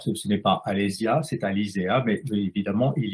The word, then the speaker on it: Alésia: La graphie Alysia, en fait, devrait être prononcée, doit être lue plutôt Alizéa, puisque les deux astes que vous voyez sur le nom d'Alysia, les deux astes verticales et deux i, sont en fait la graphie latine traditionnelle du E.